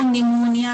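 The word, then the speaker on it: pneumonia: तो इसमें क्या है कि जो आपका P है वो साइलेंट है, प्लूरो निमोनिया लाइक ऑर्गेनिज्म।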